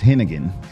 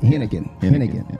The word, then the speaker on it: Henighan: doing great and that's henan ah henan is the easy way to pronounce that the silent h will throw you off in the middle I love it henan henan yes sir yes sir